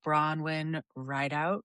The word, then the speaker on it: Bronwyn Rideout: I am really excited to have Bronwyn Rideout with us today. Did I say it right, Bronwyn? Yeah, you did.